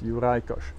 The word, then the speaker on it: Juraj Kojs: complicated tough to pronounce it's from Hungarian descent so hence uricosh so that's it I